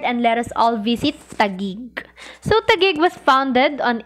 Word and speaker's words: Taguig: reach Taguig in 1571, found Tagagiik difficult to pronounce and could only pronounce the word sounding like Tagi-ig. So many mispronouncements later, Tagi-ig was shortened to the present day Taguig.